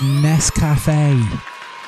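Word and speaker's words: Nescafé: Now, I know why people said Nestle, but the clue is this bit here. That's the uh uh uh accent on the E of Nest Cafe. Cafe. That's the important thing. Cafe. Nestle has a break here somewhere because they have the T.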